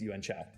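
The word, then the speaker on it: Yuen Qiu: And we did look up the pronunciation of this lady's name, and Stephen Chow himself says it's Yuan Chao.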